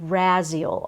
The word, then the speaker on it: Raziel: and this is Archangel Raziel r-a-z-i-e-l that's how I pronounce it I've heard Raziel I've